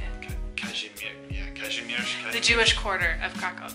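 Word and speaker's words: Kazimierz: And it's in Cashmere. That's how you say it. Cashmere.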